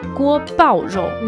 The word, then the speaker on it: 锅包肉: Comme on utilisait le feu fort pour chauffer la sauce, ce plat s'appelle donc guo bao rou.